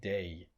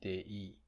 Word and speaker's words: day: It's two vowels which are pronounced closely as one unit. It's day. Otherwise, it would be dei. Dei. So it's not dei.